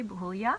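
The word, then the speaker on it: Buachaille: yarn it's yarn by Kate Davies pronounced roughly boo bulya hmm and it's a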